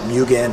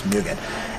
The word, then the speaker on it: Mugen: and it's pronounced Fuu Mugen okay so don't pronounce it Mugen only Dan which is the way I used to pronounce it but it's Mugen and this is actually so t ohan design